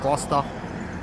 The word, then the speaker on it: Gloucester: welcome to gler so I looked it up and you do pronounce it gler and uh we just